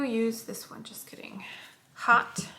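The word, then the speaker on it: haute: Hot, and it's spelled H-A-U-T-E.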